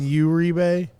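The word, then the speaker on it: Uribe: yeah Ube did I did I butcher it by saying Ur rebay you said his name right yeah you pronounced his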